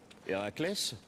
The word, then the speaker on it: Héraclès: Héraclès? Oui, c'est quoi, ça? Ben oui, c'est comme ça que ça se prononce.